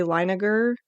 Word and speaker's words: Leininger: I said James Leininger, but his last name's actually Leininger, so I did mispronounce it, so I wanted to correct that.